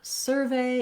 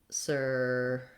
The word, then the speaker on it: survey: In the verb, I would say my ve is stressed and has that long clear vowel.